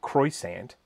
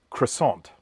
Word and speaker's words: croissant: sort of, I believe, should be pronounced somewhere in the vicinity of croissant. We don't say it that way, but we don't say it how it's spelt either. So we don't say croissant, we say croissant. So that's how we say it in Australia.